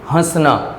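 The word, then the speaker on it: हँसना: में आ की मात्रा, हंसना, है ना। अनुनासिक लगने पर हम शब्दों को कैसे प्रोनाउंस करते हैं? अपने नाक से, हंसना, है ना, आंगन।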